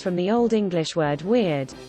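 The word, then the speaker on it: wyrd: The Shakespearean comes from the Old English word weird, pronounced like weird, but round your lips on the vowel, which meant fate, the fates.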